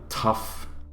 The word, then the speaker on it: tough: And even some of the consonants being, like, you know, tough, like, how the fuck, wait, I have to actually spell this. It's GH, yeah, it's GH, but you pronounce it like an F.